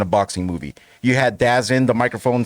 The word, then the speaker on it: DAZN: You had Dazin, the microphone said Dazin. I like when they get like the real announcers. Dazin or DAZN? DAZN, sorry. I've never known. It is DAZN. It is DAZN. I always say just pronounce it like I see it.